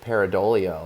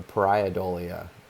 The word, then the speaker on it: pareidolia: that I use the concept of pareidolia a lot or pariah dolia however you want to pronounce it but it's it's a